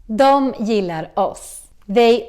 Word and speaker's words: dom: Which is the Swedish word for them, but it's also pronounced as dom. Just like the Swedish they, which was also dom. So, remember dom dom dom dom dom.